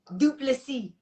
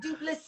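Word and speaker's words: Du Plessis: Well, because on paper it's Dricus, and you're like Dricus, and then it's DU, and then it's PLESSIS, and I cannot speak French.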